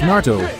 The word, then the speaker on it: Naruto: It's Naruto, not Naruto or Naru. It's just Naruto. The original anime tells you how it's pronounced.